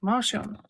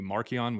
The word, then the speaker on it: Marcion: Marcion. Yep. Unless you Sure. want his like old or the old pronunciation would be Markion, which means little mark.